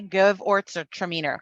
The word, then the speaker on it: Gewürztraminer: It's give, Orts, Traminer. Okay, Give, Orts, or Traminer.